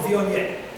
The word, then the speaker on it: Viognier: It's called Viognier. It's that hard to pronounce word that starts with V, V-I-O-G-N-I-E-R. Viognier.